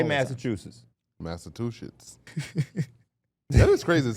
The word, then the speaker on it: Massachusetts: It's a chew sound. Okay, say it. Massachusetts.